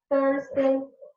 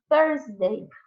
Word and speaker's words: Thursday: Thursday, Tuesday. Parece, mas não é tão parecido assim, só porque começa com T. Então, Thursday.